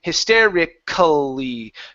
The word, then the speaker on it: hysterically: So when you have a situation where a word when a word ends with the IC ALLY, okay, that you don't want to say the L, so we're actually just going to pronounce it like so, ickly.